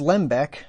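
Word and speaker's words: Lembke: This is Lembeck, I think is how you pronounce the man's name.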